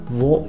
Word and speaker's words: Wo: Wo ist die Bank? Le W en allemand se prononce comme un V en français.